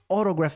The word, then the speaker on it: autograph: E ela falou autograph. Nota como que é a pronúncia autograph. Ao invés de autograph, autograph. A U em inglês sempre tem som de O.